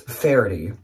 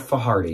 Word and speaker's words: Faherty: My first on eBay was this Faherty, not Fahardy. Good job.